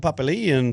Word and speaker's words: Papali'i: Not a nickname, but Dalton Papali'i in the way that the NRL commentators pronounce it.